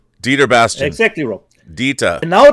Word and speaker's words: Dieter Bastian: Dieter Bastian.